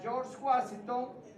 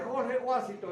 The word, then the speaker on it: George Washington: Entonces, se nombra a George Washington. Fíjate, George y Jorge se escribe diferente y se pronuncia diferente. George Washington. ¿Ah? George Washington. ¿Ah? Es diferente de Jorge. Si usted me dice Jorge Washington, ese yo no lo conozco.